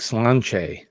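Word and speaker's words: sláinte: thank you it's like slan right is that that's how you say it right Nick slan it's like the toast or cheers and it doesn't look anything how it's pronounced those gay look people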